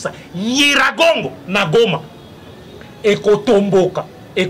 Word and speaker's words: Nyiragongo: Na bingai Jijika na yebisa kabino le 15 mars 2018 que volcan Nyiragongo, eza Nyiragongo te, eza Nyi, c'est comme ça qu'il faut prononcer ça. Nyiragongo na Goma et kotomboka et kosala éruption na 2021 na mois de juin.